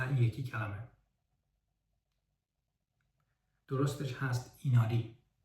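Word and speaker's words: 稲荷: می‌تونید امتحان کنید این کلمه رو مثلاً چطوری تلفظ می‌کنید درستش هست نیشیکی یا مثلاً این یکی کلمه درستش هست ایناری و یا این یکی کلمه درستش هست شین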